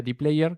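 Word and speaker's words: dplyr: Luego tenemos, esto se pronuncia dplayer, que es parte de Tidyverse, al igual que ggplot, al igual que RMarkdown, al igual que Shiny.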